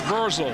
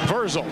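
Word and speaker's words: Vrzal: It's V-R-Z-A-L. I guess it's Verzel. That's how you say it. But I'll tell you what. Well, however you say his name, Mr. Verzel, that was a heck of a block.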